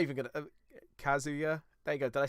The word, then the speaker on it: Kazuya: I'm not even gonna Kazuya. There you go. Did I say it right now? Have I finally Kazuya, thank you.